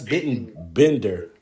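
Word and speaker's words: Bittenbender: Last name is spelled B I T E N B E N D E R. That's Bitten Bender.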